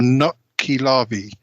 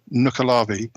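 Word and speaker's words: nuckelavee: of that either um it's called the the nut key larvae um I mean that might be said with some sort of Scottish strong Scottish accent but it's spelled n-u-c-k-e-l-a-v-e-e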